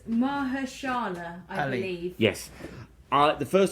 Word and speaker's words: Mahershala: How do you pronounce that name there? Oh, so it's Mahershala, I believe.